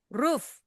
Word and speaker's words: roof: Ruf kayak bunyi anjing.